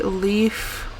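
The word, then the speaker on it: Leif: i'm gonna go see leaf i'm going to assume his name is pronounced leaf it's l-e-i-f i'm gonna go see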